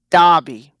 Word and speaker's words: Derby: Derby, Derby Derby, UK, which and is pronounced Derby, Derby.